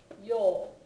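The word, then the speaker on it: 曜: remember it is because in Japanese this is pronounced yo it's a long o sound yeah so and that's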